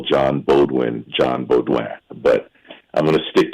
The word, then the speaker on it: Beaudoin: And by the way, it's funny because I've stuck to the French pronunciation of John's last name as instructed by our mutual friend, the vaccine-injured nurse from Ontario, T-Bird, Tanya Coulaine.